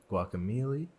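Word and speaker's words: Guacamelee: support of the Canada media fund we've played guac Amelie because that's how you pronounce it at last the long dark river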